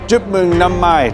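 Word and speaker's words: Chúc mừng năm mới: So, Chúc mừng năm mai to all the community.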